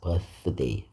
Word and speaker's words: birthday: 이빨 아랫 이빨과 윗 이빨 사이에 혀가 이렇게 나와야 됩니다. 그래서 birthday 그래서 th는 자 this 할 때 그다음에 that 그다음에 우리가 땡큐 땡큐 그러죠.